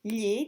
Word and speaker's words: gli: To pronounce gli, just to go with the tip of the tongue, touch the palate, and then put your tongue flat again to normal standard position.